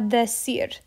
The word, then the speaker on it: decir: Ellos nos lo van a decir. Here, our emphasis is on decir, that syllable. Cir, decir.